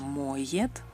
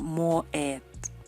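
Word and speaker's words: моет: La letra Y se pronuncia como el diptongo Y cuando va detrás de una vocal. El lava en ruso sería moyet. No es como en español moet.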